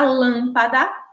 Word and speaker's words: lâmpada: Na palavra lâmpada, a gente observa também três sílabas, ó. Lâmpada. E aí também em relação à posição, ela é a sílaba tônica aí está localizada, está posicionada na sílaba antepenúltima.